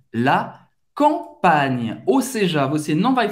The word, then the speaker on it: campagne: Agora tem uma pequena diferença, é que o GN em francês não nasaliza a vogal que vem antes. Por exemplo, como você pode pronunciar essa palavra que significa o campo em francês? É la campagne. La campagne.